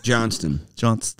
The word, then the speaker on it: Johnston: Johnston. Yeah, don't forget the T.